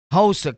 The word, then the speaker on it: Hosa: They Haas cables. Not Haas like Hassan. Hosa cable, right?